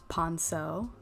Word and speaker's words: ponceau: Ponceau. I looked up the pronunciation.